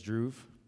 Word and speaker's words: Dhruv: My name is Dhruv, pronounced like groove.